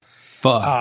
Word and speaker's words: pho: Pho. Just think like you're saying the 4-letter word without the last two letters. Don't finish the word.